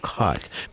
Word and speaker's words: Kaught: on the spelling of cot, but I want to finish the whole thing, and go ahead. So cot is spelled Kaught, and the K represents my first name.